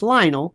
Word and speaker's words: Lionel: It's Lionel, rhymes with vinyl.